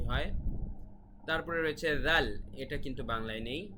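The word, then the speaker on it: ذال: উচ্চারণটি হয় তারপরে রয়েছে জাল এটা কিন্তু বাংলায় নেই এটা শুধুমাত্র আরবিতেই স্বতন্ত্র জাল খুব পাতলা একটা উচ্চারণ হবে জাল তারপরে হচ্ছে র র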